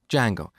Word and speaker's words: Django: So, it's spelled with a silent D and it's pronounced Django.